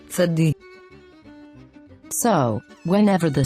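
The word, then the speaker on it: צדי: tzadi, tzadi, Tzadi has the sound of T and S pronounced together. Let's pronounce the sound tsa, tsa, tsa.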